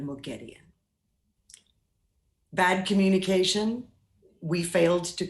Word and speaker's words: Moghedian: So why did I say Mogadin instead of Moghedian?